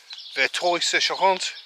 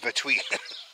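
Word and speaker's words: Verteuil-sur-Charente: Vertuy sur Charente. Whereas on that video, I called it Vertuy. Wrong pronunciation.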